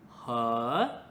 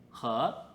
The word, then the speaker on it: 合: 好，我们今天第二个系列的关键字是和它的发音跟和 and 一模一样。